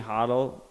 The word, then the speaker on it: hodl: I only started pronouncing hodl after Parabolic Trav he was the one who pronounced it hodl. I was always a hodl guy before that. I'm still a Hodel guy.